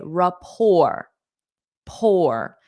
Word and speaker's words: rapport: I pronounce this word this is a word that the English borrow from the French so we adopt French pronunciation for this so we say raor poor notice the t is silent raor raor they have